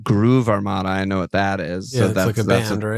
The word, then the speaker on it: Groove Armada: Gruev Armada. GRUEV Okay. Yeah, I mean Groove Armada.